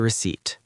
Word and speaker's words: receipt: Here is your receipt. Receipt. Repeat after me. Receipt. Receipt. Remember that the letter P is silent when you say that word.